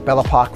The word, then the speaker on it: Bellac: owner of bellac realy remember bellock rhymes with clock thanks for tuning in